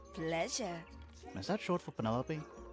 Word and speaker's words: Penelope: is that short for penelope officially yes but i never can be bothered with all four syllables of it penelope sounds a